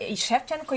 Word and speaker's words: Shevchenko: Yeah, Shevchenko, you must pronounce correctly, because it was such a famous Ukrainian football player, Andriy Shevchenko. And that's why people are pronouncing Shevchenko quite correct, yeah.